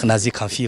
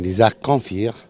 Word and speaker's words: Nizar Kanfir: Ici, on dit Nazi Kanfi, comme ça. Merci. Je prononçais Nizar tout court, c'est plus simple. Normalement, c'est Nizar Kanfir.